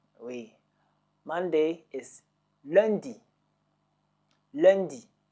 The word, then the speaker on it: lundi: Monday is lundi.